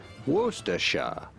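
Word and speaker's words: Worcestershire: if you're right and finally the typical British pronunciation wera there's no Wooster there what is this [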